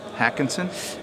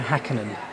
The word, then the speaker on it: Häkkinen: is that mica mica hakonsen actually that's a misprint it's Mika häkkinen there's no s David Coulthard okay reckonin right yeah right gonna give me Ricky wrecking it Randall Alonso Lewis Hamilton Mika häkkinen yeah David Coulthard yeah